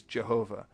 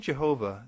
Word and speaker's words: Jehovah: would transliterate the letter I as J because in Germany when they wanted to say the yes sound they most often used the letter J later on as people read this German translation they pronounced it differently because for instance the French looked at the same letter and pronounced it with a hard jazz sound and the English speakers